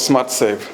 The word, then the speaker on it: SmatServ: The Smart Serve is spelled SMATEATSERV. The Smart is without R, and the Serve, at the end of the Serve, the V, there's no E. So SMATSERV. So that's Smart Serve.